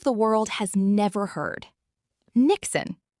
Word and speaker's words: niksen: Niksen, pronounced Niksen.